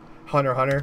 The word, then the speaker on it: Hunter x Hunter: watch them in order the X is silent hunter hunter I like Hunter x